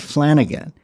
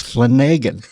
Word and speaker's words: Flanagan: break, and he says, no, it's not Flanagan. He says, there's no other way to really pronounce Flanagan except for a pathological liar. He makes the A long. It's Flanagan. And I looked at him, I said, wow.